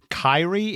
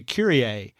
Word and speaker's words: Kyrie: I was going down and taking row I pronounced uh one girl's name as Kyrie it was spelled KY r i e and